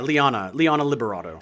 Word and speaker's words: Liana Liberato: Yeah, Liana Liberato.